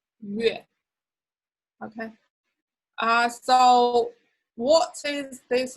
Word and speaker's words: 月: Remember when you pronounce 月, round the lips first. 月.